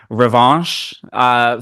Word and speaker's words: Revanche: Revanche, like that's my like rhymes with ranch. That's my you want some ranch dressing there?